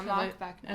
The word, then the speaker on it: Marc Buckner: Yeah, Marc Buckner.